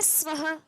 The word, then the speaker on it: स्वः: clear है लेकिन आगे क्या आ रहा है स्वः स्व के भी आगे दो बिंदु है तो